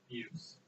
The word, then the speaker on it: Beus: That's how you say it, Beus.